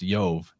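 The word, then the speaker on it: Jove: roman version uh yov would actually be written j-o-v-e or i-o-v-e and pronounced yov either way yo yova there's so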